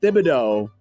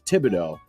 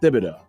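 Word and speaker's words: Thibodeau: It is pronounced Thibido, but people because his nickname is Tibs, they sometimes say it's Tibido, but apparently it is Thibido.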